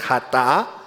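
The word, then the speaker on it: חטא: Dice, aquí lo maneja la palabra de Dios, dice en hebreo, más o menos la pronunciación es hatá, que significa culpa, pecado u ofensa, la cual, hermanos, es la transgresión de la ley.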